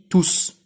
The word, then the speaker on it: tous: Le S s'entend à l'oral. On dit tous.